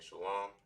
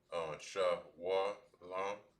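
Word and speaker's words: שלום: In the Lashon Gadash, peace or hello is you saying shalom. But now when it comes towards other different pronunciations of this particular word, to where you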